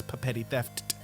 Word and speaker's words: Petty Theft: Again, that's Petty Theft. That is how it's pronounced. 2 P's at the beginning, 2 T's at the end.